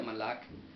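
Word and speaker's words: מלך: lo cual significa aquí, se pronuncia Malak y significa pues el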